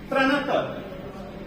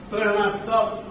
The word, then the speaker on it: प्रणत: इसी ही प्रकार से न प्लस अ, प्रणत, प्राण, फिर उसके बाद में त प्लस अ, प्रणत, भक्तामर प्रणत। न में भी आपको अ सुनना चाहिए, अ सुनाना पड़ेगा, अ का उच्चारण करना पड़ेगा।